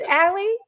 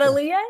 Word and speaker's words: Allea: matter of repetition like it's ally not aliyah you might second guess